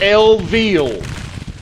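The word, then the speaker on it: Viele: Yours most respectfully, General Eggbert Lville. That's spelled V I E L E.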